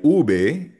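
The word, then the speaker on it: uve: Pero ang tawag dito yung letter V ay ube. Pero madalas naririnig rin natin sa ibang native speakers sinasabi nila be chica or be corta.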